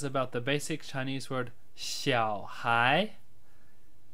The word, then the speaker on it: 小孩: Hi guys, this brief video is about the basic Chinese word xiǎohái. Xiǎohái, otherwise pronounced xiǎohár in the northern dialects, which means child or kid.